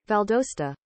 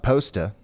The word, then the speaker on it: Valdosta: is what I needed Valdosta Valdosta that's right because I saw people in chat saying it was like pasta it's not it's not poster Valdosta valdost Valdosta okay